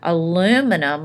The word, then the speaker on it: aluminum: Aluminum, right here, aluminum, or as the British says, aluminium, is the most abundant metal that we find in the earth.